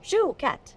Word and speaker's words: Chouquette: - Chouquette is my chocolate dream, so I'm saying it right, Chouquette? - Shoe like you wear on your foot. - Shoe. - Shoe cat.